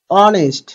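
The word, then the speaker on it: honest: বললাম তো যেমন দেখো অনেস্ট এইচ কি তার নিজের মতন উচ্চারণ হচ্ছে না এস টা অ স্বরে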